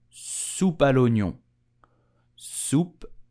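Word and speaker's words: soupe à l'oignon: cheese floating on top so how do you pronounce it correctly in French you will say super lunio soup if you notice the last word onion is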